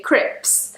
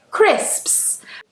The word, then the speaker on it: crisps: Now, I hear people say crips. I used to work in a cafe with a lot of foreign workers and they would always say, "Where are the crips?" And I'm like, "Crips? Are you talking about crips?" We say crisps. This sound is very difficult for some people to say.